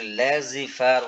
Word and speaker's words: laissez-faire: Laissez-faire, typically pronounced laissez-faire, was originally a French term.